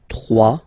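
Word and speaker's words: trois: Final S not pronounced. 3.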